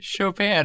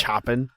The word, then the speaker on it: Chopin: hear from you thanks for listening it is pronounced chopin apparently chopin yeah he's not chopping oh it's because he's because he's french so